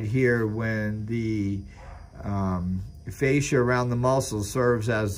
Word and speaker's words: fascia: battery packs it's f-a-c-f-a-s-c-i-a but i'm going to pronounce is fascia you might pronounce it differently but you know what i'm